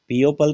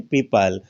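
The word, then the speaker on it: people: silent होता है देखिएगा इ ओ साथ में है बोलते क्या है पीपल पीओ पल तो नहीं बोलते क्या बोलते हैं पीपल तो इसमें ओ है वो क्या हुआ साइलेंट केवल ई की धवनी आई है इसमें देखिएगा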